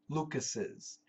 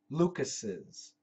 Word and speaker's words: Lucas': But the pronunciation is typically Lucas's. Even though there's only one S, we pronounce 2 S's.